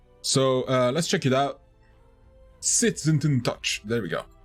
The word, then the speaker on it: SsethTzeentach: of World's Tallest Leprechaun Hat very enjoyed the SsethTzeentach. There we go. Said it right this time. And said check out Evenicle review, Wholesome edition, trademarked by SsethTzeentach. So let's check it out. SsethTzeentach.